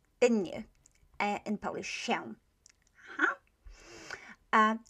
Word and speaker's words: się: Okay, you probably have seen the word się, didn't you, in Polish, się. Huh? You can hear that S I, się, is the same sound as this one.